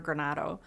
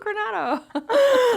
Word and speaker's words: Granato: So it's just when I hear Granato, it's still like, oh, Granato.